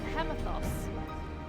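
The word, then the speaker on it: Hemitheos: been twisted into a hemathos. Doubtless against her will. I think you pronounce it as you would pronounce hegemony.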